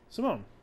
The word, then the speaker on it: Simone: Wait, how are we supposed to pronounce her name? Simone.